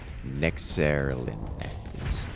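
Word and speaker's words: Nexerelin: Nexerlin. That's how that is. It's pronounced.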